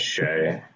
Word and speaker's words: Shai: Saying it shy is nuts. How is it supposed to be pronounced? I think it's Shay.